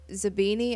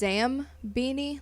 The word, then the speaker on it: Zabini: the movies and shit, I would pronounce it as Zambini, like Zambine, not E-I. Whoops.